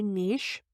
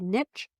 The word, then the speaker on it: niche: I like to say niche. I know I'm in the Midwest and most of the people around me probably say niche, but I like how it's pronounced as niche.